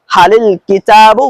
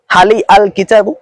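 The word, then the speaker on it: هلِ الكتابُ: রয়েছে ওই লামও সাকিন আরবিতে নিয়ম হলো দুই সাকিন একসাথে আসতে পারে না এজন্য আমরা এই হালের শেষে যে লাম রয়েছে এই লামের নিচে জের দিয়ে পড়ি যাতে এবার উচ্চারণটা সহজ হয় অর্থাৎ এভাবে পড়ি হালিল কিতাবু মুফিদুন এখন প্রশ্ন হলো আমরা এভাবে পড়ি না কেন হালি আল কিতাবু দেখুন এভাবে কিন্তু পড়া যায় না এভাবে পড়া যায় না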